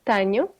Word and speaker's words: tenho: This sound "ny" you're gonna hear it a lot now because remember the "n" and the "h" together. Yeah. It's pronounced "ny", just like in Spanish you have the "n" with the little thing on top. Yeah. Yeah. Okay, it's exactly the same sound.